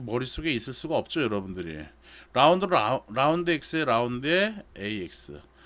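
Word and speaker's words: ∂: 라운드 X에 라운드에 AX. 이걸 라운드 X라고도 읽는 책도 있고요. 편미분이라는 뜻으로 해가지고 파셜이라는 말도 써. 그래서 파셜이라고 하는 그런 책도 있고요. 라운드라고 읽는 게 일반적이에요.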